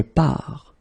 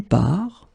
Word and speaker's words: pars: Remember, you put this S, you don't pronounce it. Je pars. Then you will get tu pars, il, elle part.